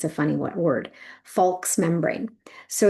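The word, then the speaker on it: falx: membrane, the one layer, and it's called the folks membrane.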